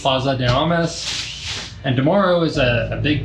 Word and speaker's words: Plaza de Armas: But our first day was really, you know, it was nice walk around the square, walk around Desarmes Square. I'm not saying that right. Plaza de Armas. Plaza de Armas.